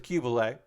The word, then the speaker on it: Qubeley: The Qubeley, and I believe that is how it's pronounced, the Qubeley.